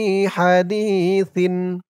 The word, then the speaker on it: حديث: মাআহুম হাত্তা ইয়াখুদু ফি হাদিসিন সিন সার উচ্চারণটা নরম হবে হাদিসিন গয়রিহ গয় গয় রিহ